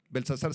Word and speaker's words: Belsasar: de belsazar se acuerdan belsazar sin té belsazar porque Daniel era belt sasar pero el rey belsasar